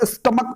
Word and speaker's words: stomach: MONARCHS होता है, STOMACH, इसको स्टमक पढ़ा जाता है, CH आ रहा है और प्रोनाउंसिएशन क जा रहा है, तो क जा रहा